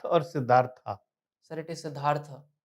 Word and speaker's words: Siddhartha: And the reason why I was, Is it Siddharth or Siddhartha? sir, it is Siddhartha. In Sanskrit, the tha is full a, sir, with it is pronounced as Siddhartha.